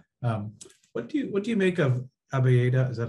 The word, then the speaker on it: Abyeda: What do you make of Abieda? Is that how you pronounce her name? Abieda, yeah.